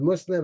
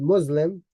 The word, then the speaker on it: Muslim: you who speak English you butcher the word Muslim and you call it Muslim it's not Muslim it's Muslim you know with the sound like you would say snake you don't say snake